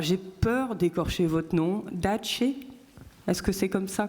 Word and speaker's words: Dace: Dace, est-ce que c'est comme ça qu'on prononce? Dace Melbārde. Right, Dace.